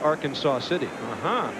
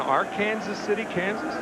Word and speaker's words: Arkansas City: part of the country there's an Arkansas City Kansas they're not about to call it Arkansas City so our Kansas City so no Kansas City but not our Kansas City they have an our Kansas City Kansas yeah wow strength they don't